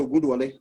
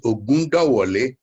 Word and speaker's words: Ogundawole: So, Professor Ogunduwole, please. Yeah, can you hear me? Yes, sir. Can you hear me? Yes, sir, we can. Okay. The correct pronunciation is Ogundawole. Ogundawole.